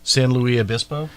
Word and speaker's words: San Luis Obispo: San Luis Obispo. How do you say that again? San Luis Obispo. So you're doing kind of a French as well as a Spanish.